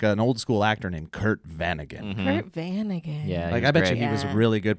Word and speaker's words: Vanagon: way round of applause so a Vanagon is a Volkswagon Vanagon bus it's a type of car and I think you should spell it because it sounds like you're saying van again like a two-point really yeah